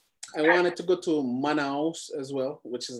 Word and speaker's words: Manaus: I wanted to go to Manaus as well, which is like near the Amazon rainforest. But... are you pronouncing it? Manaus. So it's Manaus.